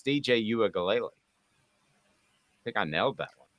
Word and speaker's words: Uiagalelei: I just choose not to say their last names if I can't pronounce them. I'm much worse at Nico's, but it's DJ Uiagalelei.